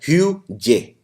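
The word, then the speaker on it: hygge: इसको लिखते हैं हाइज, बट इसको प्रोनाउंस किया जाता है ह्यूजे।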